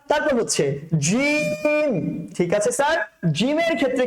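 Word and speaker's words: ج: আলিফ, তারপর হচ্ছে বা, তারপর হচ্ছে তা, তারপর হচ্ছে সা, তারপর হচ্ছে জিম, ঠিক আছে স্যার? জিমের ক্ষেত্রে কি হবে? এই জিমটা হচ্ছে আপনার বাতাস বের করা যাবে না, শক্ত করে উচ্চারণ করতে হবে।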